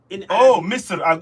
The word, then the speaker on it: Misr: Misr.